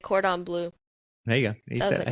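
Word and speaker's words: Cordon Bleu: at oh gosh I'm going to butcher like cordon blue there you go you I think you said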